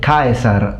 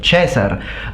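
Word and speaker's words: Caesar: are wrong as Because people who get mad and call me ignorant because I say kaiser instead of chessar are people who have only studied at high school or secondary school in Italy.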